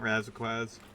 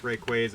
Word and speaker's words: Rayquaza: No, it's not Raziquaz. that that Raziquaz is how one of my friends James used to pronounce Rayquaza.